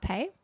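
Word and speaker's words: rapé: And if you haven't seen Chris do that before where he just did he's sitting with hape. It's spelled R A P E with the apostrophe over the e for the accent.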